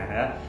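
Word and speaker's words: Ağrı: Di Agri, di tempat kota gue kuliah ya, itu di Arab namanya, tulisannya Agri, bacanya Arab.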